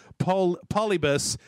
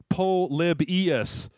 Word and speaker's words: Polybius: No offense, Jeff, but can you please stop pronouncing it Polybus? It's pronounced Polybius.